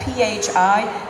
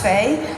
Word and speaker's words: phi: well what is that p-h-i sometimes pronounced fae sometimes pronounced phi you'll see it in